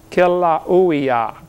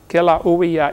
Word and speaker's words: Kilauea: They pronounce every vowel over there in Hawaii. Kilauea, Kilauea iki, but something like that.